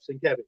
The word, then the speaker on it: Sienkiewicz: Yep, Sienkiewicz. Yeah. Yeah. So if you want to pronounce Bill Sienkiewicz's name right, just think Sin Cabbage.